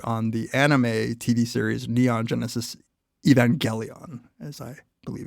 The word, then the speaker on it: Neon Genesis Evangelion: do an episode on the anime TV series Neon Genesis Evangelion, as I believe it's pronounced.